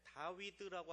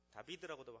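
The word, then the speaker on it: דוד: 또 하나는 다윗의 자손이다라고 하는데 다위드라고 하는 히브리어 글자 다위드라고 합니다. 다비드라고도 하고 근데 그 글자를 합치면 14라는 글자가 나와요.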